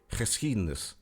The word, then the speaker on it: geschiedenis: You see, the G in Dutch is pronounced ch, and Dutch has lots of chs.